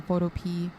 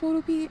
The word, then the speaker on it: Photopea: So I did very quickly open up something on Photopea. I'm pretty sure it's pronounced Photopea and not Photopea, but my brain keeps wanting to say it as Photopea.